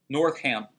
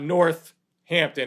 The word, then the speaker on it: Northampton: North Hampton I mean it's one word nor cam yeah it's your cam it's not North Hampton its North Hampton one word one word all right